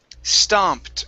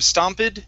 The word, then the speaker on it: stomped: good uh next up is stomped with the t sound at the end stomped instead of stompid stomped stop it okay